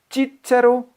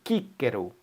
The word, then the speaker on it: Cicero: Um grupo pronuncia de che, chi, outro grupo pronuncia que, ki. Então essa palavra Cicero pode ser pronunciado Cícero.